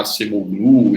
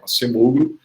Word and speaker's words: Acemoglu: Alguns vão pronunciar Acemoglu e outras variações, mas eu vou usar a pronúncia portuguesada, né, o Daron Acemoglu.